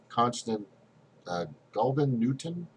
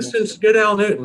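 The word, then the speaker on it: Constance Gadell-Newton: and then we have Constant Golden Newton. How do you say her name? Constance Goodell Newton.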